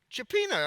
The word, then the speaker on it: cioppino: Cioppino.